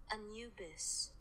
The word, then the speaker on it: Anubis: Anubis. That is how you pronounce Anubis.